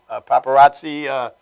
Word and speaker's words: Paparazzi: The Blues Brothers, Paparazzi, that's how you pronounce it.